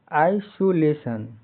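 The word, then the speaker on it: isolation: आ रहा है आई के बाद सी ओ आइसोलेशन एस ओ आ रहा है। इसका उच्चारण क्या है?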